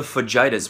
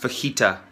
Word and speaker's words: fajita: yeah I'll have the Fujita's please pronounced fajita you ignorant sack of